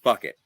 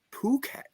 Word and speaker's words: Phuket: So you are under the impression that that word is fuck it. That's what it looks like to me. Yes. Yes. Captain Infinity, would you like to pronounce the location correctly, please? I once went to the town of Fuket. I thought, "Oh, fuck it. Why not?" I thought it was No, I thought it was Puket.